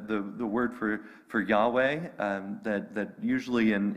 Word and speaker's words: Yahweh: vowels you know because in hebrew they didn't give vowels and so we had to guess for a while and we think we've